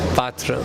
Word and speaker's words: पात्र: It is really unique because पात्रा, the word is not पात्रा, the word is पात्र. मुझे बहुत डांट पड़ी है इस बात पे. Patra is the right pronunciation.